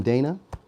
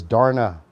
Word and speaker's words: Dana: Hey, good morning, Dana. It's what? What is it pronounced? Darna? It's pronounced Darna? Did I say that right? Darna? Did I say that right? Yup, got it. So it's Darna. Okay.